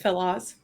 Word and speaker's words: FilOz: We'll see where the conversation goes, but um I don't even know if I'm pronouncing the company name right, Philos.